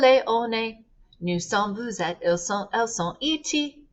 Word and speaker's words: vous êtes: Vous êtes gets the liaison, that S before a vowel.